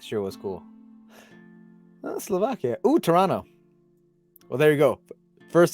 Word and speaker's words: Toronto: no you'll thank me when together is Toronto you just don't say the second t ah dude Slovakia how